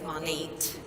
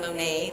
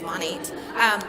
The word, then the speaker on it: Monat: I didn't even know how to say the company name properly. By the way, it's Monat, Modern Nature. I was saying Monet, like the painting, but it's Monat.